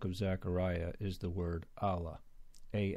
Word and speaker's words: alah: added an L um either way it's pronounced the same it's the same word but I just recently